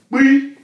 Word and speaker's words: pí: Pí, remember the pronunciation again, it's not P as in Peter, it's not the P English, it's pí, pí, pí, pí, pí,